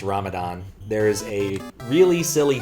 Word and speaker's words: Ramadan: the word Ramadan because in Iran and India it's called pronounced ramzan didn't know about that yeah I definitely always heard it pronounced Ramadan there is a really